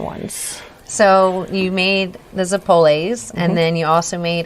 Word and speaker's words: zeppole: do you say it I've been taught zeppole but I have heard the pole it and I know like it might be it might be it might be regional thing I don't know